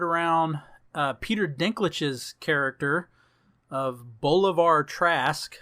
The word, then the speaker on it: Bolivar: Peter Dinklage's character of Bolivar Trask. I believe that's how you pronounce his first name, because I don't think it's said an awful lot in the movie. Bolivar.